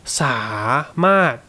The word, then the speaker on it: สามารถ: to make is that when you start speaking quickly, it will often just become สามารถ so here you will just say สะ without really any intention for a specific tone. Okay, just get the pronunciation SA in your head, right? คุณสะ and then say the มาด properly.